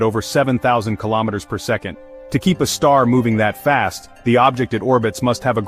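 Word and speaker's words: Sagittarius A*: Sagittarius, a asterisk, pronounced a star.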